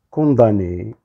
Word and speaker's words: condamnés: les voleurs ont été condamnées alors ça s'écrit avec mm et on le lit condamné finalement les voleurs ont